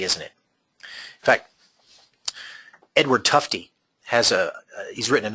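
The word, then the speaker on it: Tufte: and look him up his last name is spelled TUF te Edward tufty uh also does uh some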